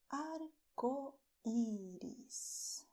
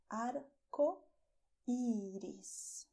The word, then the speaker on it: arcoíris: And rainbow in Spanish is arco iris. Okay, and I did not make rrr. Okay, here is only the tip of the tongue touching the front teeth. Arco iris.